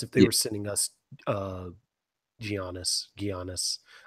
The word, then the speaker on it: Giannis: they are sending us giannis be honest - be honest is that how you say his name Yanis yeah okay I hear it like a million times and they still get it wrong yeah I'd say I'd